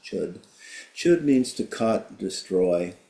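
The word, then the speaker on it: Chöd: This chapter is a practice called Chud, even though it's spelled C-H-O at the umlaut, it's pronounced Chud.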